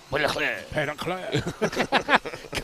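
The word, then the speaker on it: Petitclerc: You don't say the C. The C is silent. It's like say it like a French. Petitcler.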